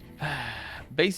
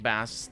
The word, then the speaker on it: Bass: terminal building thank you bass is pronounced like ace with a b in front of it not like bass the fish i know zingster i